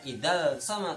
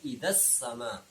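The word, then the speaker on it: إِذَا السَّمَاءُ: Idzas sama, idza ini tidak ada hukum bacaannya karena ada al bertemu dengan huruf sin, maka kita tahu ini hukumnya adalah asy-syamsiyah. Nah, idgham syamsiyah, sehingga bacanya tidak idzal sama tapi idzas sama.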